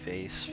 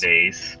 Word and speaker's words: vase: Tyler, how do you say vase? I say Vase. vase, but you can say vase. There's no right or wrong on that one.